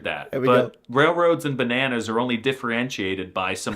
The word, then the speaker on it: banan: First, in Swedish, there is accent one, and this goes from high to low. So, the first syllable has a high tone and the second has a low tone. This is the case for the word banana which is therefore said like banan.